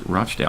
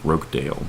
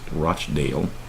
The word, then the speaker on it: Rochdale: is how to pronounce Rochdale I thought it was like Rockdale myself but it's Rochdale apparently to halt and the